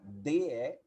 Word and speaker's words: the: Você vai falar como se fosse falar DE, só que com a língua no meio dos dentes. Então, você fala D. Então, a pronúncia correta desse artigo é D.